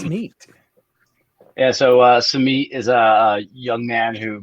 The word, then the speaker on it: Samit: character and Summit I think yeah the correct pronunciation why don't you tell us that it's neat yeah so uh some meat is a young man who grew up in